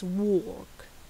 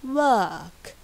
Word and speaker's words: work: very deep r here in british english it's work it's more shallow and lighter r yes and this means